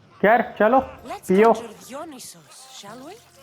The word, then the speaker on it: Dionysos: Dionysos, shall we? डियोनिसोस ऐसे pronounce करते हैं उसे? मैं डायोनिसिस बोलता है हमेशा उसको. This is pure swill.